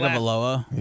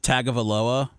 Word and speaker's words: Tagovailoa: Tagovailoa. How do you say it again? Tagovailoa.